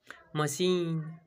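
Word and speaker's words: machine: तीसरा example मशीन, सी एच का उच्चारण आया तो मशीन, सौ का उच्चारण आया, मशीन means मशीन। Next सिकेना, सिकेना, सी एच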